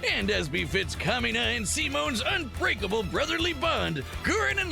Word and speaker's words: Simon: Um, Simone is like the Spanish version of that word.